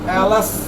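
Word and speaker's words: alas: ওই যে এলস, এটা কিন্তু এলাস লেখা আছে, এলস উচ্চারণটা কি করবো? এলস।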